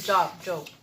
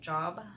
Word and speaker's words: Job: I mean, Job. No, it's Job. Sorry. Going to read on Job, spelled like job, but it's pronounced Job 23:10 and 11.